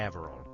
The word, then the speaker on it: Avril: name wrong again today Avril rhymes with Canaveral my first name is